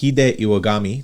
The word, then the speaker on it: Hide Iwagami: and today I got a very cool guest hide iwagami did I pronounce that right yes sir all right and